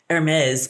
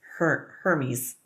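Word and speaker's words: Hermès: I want to call it Hermes because it's spelled the same, but it's Hermes.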